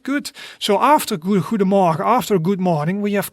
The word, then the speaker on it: goedemorgen: But for example, we can say goedemorgen, goedemorgen. And that means good morning, right? And that is like 3 syllables. So that would be goedemorgen, goedemorgen. Okay, right, good. So after goedemorgen, after good morning, we of course also a good afternoon.